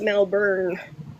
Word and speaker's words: Melbourne: So I was like, Melbourne is pronounced Melbourne.